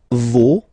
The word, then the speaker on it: vos: No, you don't pronounce the final s. Vos, you don't pronounce it.